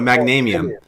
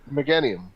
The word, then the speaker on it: Meganium: Magnanium. Magnanium. Guffy, you're Magnanium. Meganium.